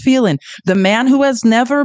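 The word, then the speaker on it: Phelan: John felin who I like to call John felen but it is pronounced felin the man who has never been in the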